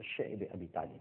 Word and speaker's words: شعب ابی طالب: بعد شیب ابی طالب، جس کو بعض حضرات شعب ابی طالب بھی کہتے ہیں، لیکن جس کا صحیح تلفظ ہے وہ شعب ابی طالب ہے، ایک گھاٹی تھی، آج